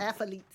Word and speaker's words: athletes: Athletes. But how do you pronounce it? Athletes. Athletes. Athletes like athlete's foot. Athlete. Your tongue too heavy.